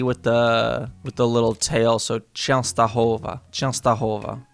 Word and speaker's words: Częstochowa: Okay, so it's got the E with the little tail, so Częstochowa. Częstochowa. How does this get pronounced?